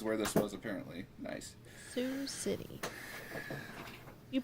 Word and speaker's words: Sioux City: city iowa is where this was apparently nice sioux city you pronounced it right did i i did do